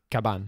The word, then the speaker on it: Cavan: introduit le métaller puis Cavan cabane cabane cabane qui est ça s'écrit avec un V mais les vies en espagnol prononcent un peu comme des baies ah votre cabane qui